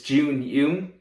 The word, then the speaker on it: Jun Yoon: My name is Jun Yoon. I know it's not pronounced the way that it's spelled, but you can blame that on my parents.